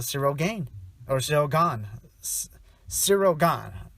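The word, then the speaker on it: Ciryl Gane: gaine or joe gone sirogon right that's how you pronounce it sirogon uh yeah sirigan he's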